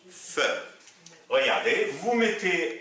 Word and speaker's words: ف: Alors, la lettre Fa, la lettre s'appelle Fa et elle se prononce Fe.